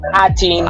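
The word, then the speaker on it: A'TIN: Here in the Philippines, you can pronounce it as atin.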